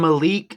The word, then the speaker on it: Malik: I see Malik and Malik rhymes with Meek as well.